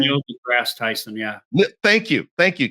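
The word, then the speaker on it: Neil deGrasse Tyson: love is uh what is this is it Neil Ty the grass I always mess his name up what's his name how do you say his name Neil the grass Tyson yeah thank you thank you Keith and and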